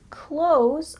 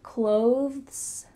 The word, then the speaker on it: clothes: when we speak in fast English we often pronounced clothes a lot like close the door I buy